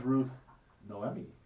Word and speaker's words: Ruth Noemi: with your flexing ability your flexibility this is Ruth Noemi did I pronounce that right you did it okay and